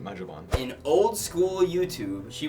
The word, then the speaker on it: Magibon: That was Maggie Bond? Maggie Bond. Is it pronounced Magibon or Magibon? I always pronounce it Magibon.